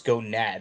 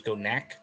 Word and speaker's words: Gonak: He didn't say his name was Gonad. He said it was Gonak.